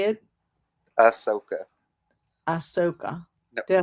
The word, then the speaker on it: Ahsoka: Ahsoka. Ahsoka. Did I say it? No. Just take the H out.